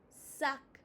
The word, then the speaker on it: sac: sac uh Open your mouth more. sac sac J'ai un sac.